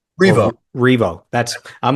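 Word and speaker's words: R.E.V.O.: So is it pronounced revo like revolution? Revo. Revo.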